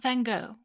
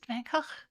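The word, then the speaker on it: Van Gogh: He even pronounced it correctly. Not Van Go, he said. Vangh sweet thing.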